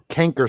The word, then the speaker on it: canker: Canker sore. Spelled like cancer. Canker sore. Canker sore. C-A-N-K-E-R. Canker sore.